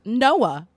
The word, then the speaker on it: NOAA: national ocean Administration called It's pronounced Noah that interestingly enough weird